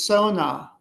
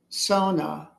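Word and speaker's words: Xona: He wrote it down as X-ONA. So he was kind of writing it in a Chinese, like an English version of like a Chinese word. Um, but I wasn't sure about it. And so again, when I got home, I was doing some energy readings with it. Um, I discovered that I would pronounce it as Sona, Sona.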